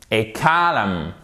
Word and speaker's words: column: Et column. Column. Ok? Donc, on prononce le M ici, mais on ne prononce pas le N.